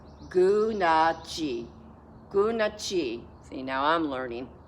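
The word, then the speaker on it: Gunalchéesh: This is how you say it. Gunachi.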